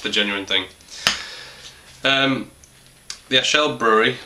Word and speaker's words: Achel: That's pronounced right, Achel, Trappist.